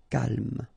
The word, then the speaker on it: calme: So don't insist on the final E. Calme.